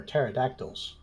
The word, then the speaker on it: pterodactyl: beyond the lookout for pterodactyls especially urinating ones you have to spot them you can't hear them because the p is silent ha ha ah joke